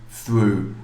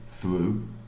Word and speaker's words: through: Well, I told you earlier, it's flew, through, and grew. You should pronounce them all correctly. And my tip for the week was these all sound like blue. Flew, blew, through, blew, grew, blue.